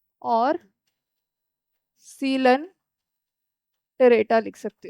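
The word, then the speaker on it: Coelenterata: पहला पॉरीफेरा, दूसरा नाइडेरिया भी लिख सकते हो, और सीलन टेरेटा लिख सकते हो। ठीक है, नाइडेरिया एंड सीलन टेरेटा। तीसरा है टीनोफोरा। नाइडीरिया साइलेंट है, ठीक है।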